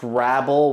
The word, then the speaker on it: Hrabal: Hrabal, it's pronounced Hrabal, which I still hate that it's pronounced that way.